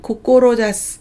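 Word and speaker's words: 志す: 훈독은 고꼬로자스, 고꼬로자시라고 읽습니다.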